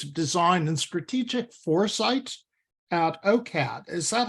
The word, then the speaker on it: OCAD: She recently picked up a Master's of Design in Strategic Foresight at OCAD. Is that how you pronounce it these days? OCAD, yes.